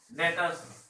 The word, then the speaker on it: debtors: Next, डेटर्स. डेटर्स, DEBTORS, डेटर्स. Clear? B silent होता है, डेटर्स पढ़ेंगे. डेटर्स.